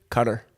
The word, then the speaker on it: Qatar: the big topic today is the implication of a World Cup in Qatar, Yes. or alternate pronunciation. Cutter.